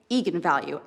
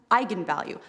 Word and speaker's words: eigenvalue: and said that's right eagan value and then apparently the internet went nuts when it came out because apparently it's pronounced eigenvalue that's how you're supposed to say it and the director don't